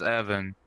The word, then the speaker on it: Evan: The funny thing is my name is Evan. Like, it rhymes with Kevin, obviously.